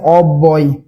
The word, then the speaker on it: অব্যয়: তারপরে দেখেন অব্যয়, এই অব্যয়ের উচ্চারণ কি হবে? অ এর মতো থাকবে। অব্যয়।